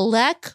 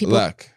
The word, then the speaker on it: lek: So you can call it a lek or a leek. Lek. But people pronounce it differently. So, they do. Is there a winner? Well, I think it's partly in academia. In a lek. Academics say yeah, Lek.